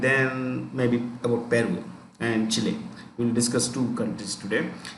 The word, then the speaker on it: Chile: Okay, so right, 2015 venue for 2015 venue, venue, venue for 2015 dash Chile, Chile, Chile, Chile, Chile, that's how you pronounce it, Chile, Chile.